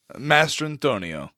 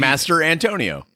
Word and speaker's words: Mastrantonio: I've been saying Mastrantonio. Mastrantonio. See, it's easy when you say it like that. Yeah, it's like easy. Master Antonio.